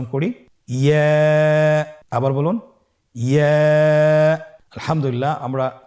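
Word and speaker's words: ياء: পরবর্তী হরফটির নাম হলো ইয়া। পরবর্তী হরফটির নাম ইয়া। পরবর্তী হরফটির নাম কি? ইয়া। ইয়া হরফটি উচ্চারণের ক্ষেত্রে বারিক হবে এবং 1 আলিফ টেনে পড়তে হবে।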